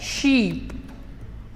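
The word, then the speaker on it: ship: पहला जो वर्ड है उसको प्रोनाउंस किया जाता है शीप और दूसरा जो वर्ड है इसको प्रोनाउंस किया जाता है शिप।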